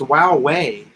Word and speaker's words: Huawei: lithium batteries ronald 109 USD each ah it's pronounced Wow way Wow way he flew away huawei loop Wow